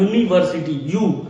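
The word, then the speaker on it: university: तो यहाँ पे यूनिवर्सिटी में लिखा तो वाई है, लिखा तो यू है, बट वाई साउंड आ रहा है, इसमें वाई का साउंड आ रहा है। यूनिवर्सिटी, यू का साउंड आ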